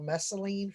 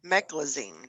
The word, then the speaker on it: meclizine: And then they put me on prednisone and something called mesaline for dizziness or something like that. Meclizine. Meclizine. Yeah, that. I Yep. can't pronounce that stuff half the time.